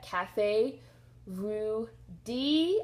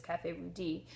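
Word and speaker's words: Café Rue Dix: e d iix so I'm assuming that's D and not dicks not Cafe rud dicks I'm assuming it's Cafe rud D um please feel free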